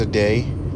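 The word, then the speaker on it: Ade: My name is Aday, like hey, my name is Aday. Yes, yeah, pronounced like Aday, but like the spelling is A D E, and I'm from Nigeria, but I live in Louisiana, Baton Rouge.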